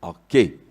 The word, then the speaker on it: arché: A-C-H-E, prononcé arché.